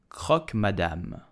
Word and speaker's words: croque madame: So how do you pronounce it correctly? You will say croque madame, croque madame, croque madame.